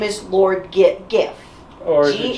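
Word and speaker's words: Giff: His name is Lord Gif. Or is it Jif?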